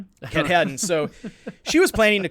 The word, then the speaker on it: Katahdin: how she planned to climb Mount, how'd you pronounce it, Joe? Mount... I don't even know. I'm wrong. Katahdin? Katahdin.